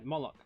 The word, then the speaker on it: Moloch: like a moloch yeah molock right okay so it could just literally be called monarch uh yeah is that with the m-o-l m-o-l-o-c-h yeah bollock rhymes with this bollocks is there i don't